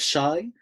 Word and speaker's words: Shai: It's spelled Shai, alpha, iota, and it's sounded out like a sh sound.